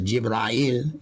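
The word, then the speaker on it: جبريل: said that the quote-unquote angel gabriel pronounced the jibrael in the arabic language spoke these words to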